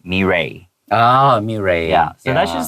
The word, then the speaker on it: Mirai: They're like, it's not mirai, it's mirai.